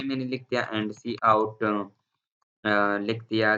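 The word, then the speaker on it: cout: Line 8 पे हमने क्या बताया सी आउट प्रोनाउंस्ड सी आउट।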